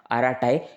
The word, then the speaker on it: Arattai: इसकी एप्लीकेशन का जो नाम है आराटाई यह भी थोड़ा आपको अजीब लग रहा होगा क्योंकि यह तमिल लैंग्वेज में है।